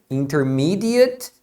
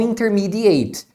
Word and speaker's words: intermediate: o verbo intermediar agora essa outra palavra aqui você pronuncia intermediate intermediate aí significa intermediário talvez você seja um aluno do nível intermediário em inglês então você vai ser um intermediate student e não intermediate tá vendo Então você